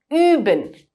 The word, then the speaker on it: üben: That's the similar way that U with 2 dots on top of it is pronounced in German. An example would be üben, which means to practice.